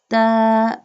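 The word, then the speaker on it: تَ: Ta. Alif. Ta. Ta pronounced from the tip of the tongue touching the roots of the top two front teeth.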